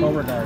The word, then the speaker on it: Beauregard: Beauregard.